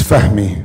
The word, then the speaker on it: Fahmy: Fahmy or Fahmy? It's Fahmy.